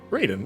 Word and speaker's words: Raiden: I like oh wait if I've been saying it wrong it's Raiden right Raiden yeah okay I think I said ride in a few times sorry to